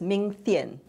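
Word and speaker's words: Ming Thein: I think his name is pronounced as Ming Thien.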